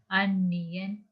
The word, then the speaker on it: அந்நியன்: அதே போல இதை நாங்க வாசிக்கும் போது அந்நியன், சென்னாய், அதாவது இந்த ந வரும்போது நாங்கள் உச்சரிக்க வேண்டும். எவ்வாறு என்று சொன்னால் எங்களோட நாக்கை சற்று முன்பல்லோடு உரசியவாறு நாங்க இத அந்நியன் என்று சொல்லி நாங்க உச்சரிக்க வேண்டும்.